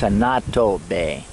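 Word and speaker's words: Annotto Bay: Anato, they spell Anado, that's how they pronounce it, but it's Anato Bay.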